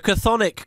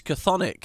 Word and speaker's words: Chthonic: oh, God, how do you even pronounce it? The C-T-H-O-N-I-A-N gods or whatever. The Chthonic gods. Chthonic.